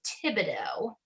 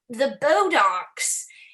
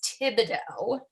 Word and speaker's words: Thibodeau: trying to get to Thibodeau, which is spelled very weird. It's spelled French. And no one that was at the callbacks really knew how to say it. And I remember people sort of stumbling over it or saying like, how are we going to get to the Bodocs?